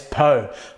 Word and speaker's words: pho: Now, you can't beat a good Vietnamese beef pho, or commonly known as pho, and I've even heard it pronounced as po, but it is a popular Vietnamese rice noodle soup, which you can find pretty much anywhere.